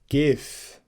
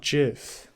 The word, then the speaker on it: GIF: reason why it's pronounced gif right because the the g stands for graphic okay not traffic okay gif not jif jif is a peanut